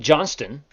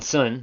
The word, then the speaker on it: Johnston: That BMW GT3 is Holt Johnston. John Johnson. Not no T in there. Or is there? There is a T.